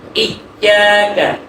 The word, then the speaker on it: إياك: مالك يوم الدين তারপরে এই জায়গাটা অনেকে এইভাবে পড়ে, ইয়্যাকা ইয়্যাকা না'বুদু ওয়া ইয়্যাকা নাস্তাঈন। এখানে ইয়ার মধ্যে রখওয়া, এই কথাটা আমার মনে রাখতে হবে।